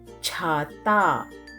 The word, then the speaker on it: छ: in hindi we say chata pronounce cha as you pronounce cha in chair but with her sound so cha is not cha it is cha for writing follow the